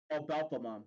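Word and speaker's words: Belphemon: Wait, how do I pronounce this? Oh, Belphamon. Belphamon. Alpha, Belfamon, Belfamon, Yeah.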